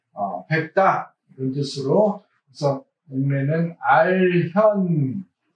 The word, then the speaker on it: 알현: 그래서 목례는 알현. 이건 견으로 안 읽고 현으로 읽어야 됩니다.